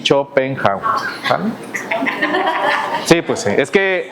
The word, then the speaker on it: Schopenhauer: Aquí hacemos una pequeñita pausa y regresamos para hablar acerca ahora sí de Chopenhauer y que se pronuncia así, Chopenha.